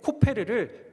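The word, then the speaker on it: כֹּפֶר: 역청의 히브리어 발음이 뭐냐면요, 코페르입니다. 칠하라 하는 칠하다의 히브리어 발음은요, 카파르입니다. 그러니까 14절 말씀을 히브리어식으로 읽으면 이런 거예요. 너는 고페르 나무 방주에 코페르를 카파르하라.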